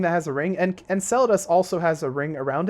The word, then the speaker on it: Enceladus: moons here we have how do you pronounce this and sell it us and sell it us I think that's how you pronounce it Enceladus Enceladus is essentially just